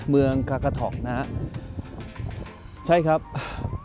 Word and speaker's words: Qaqortoq: แดนนี่ อยู่ ที่ เมือง กากาทอก นะ ฮะ ใช่ ครับ ผม ออก เสียง ไม่ ผิด นะ ฮะ คาคาทอก สำหรับ ใน เมือง คากาทอก